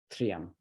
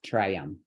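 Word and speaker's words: tryam: to even practice that try to save this syllable t-r-y-a-m as one syllable three of them 3M 3M not Triumph okay so that's a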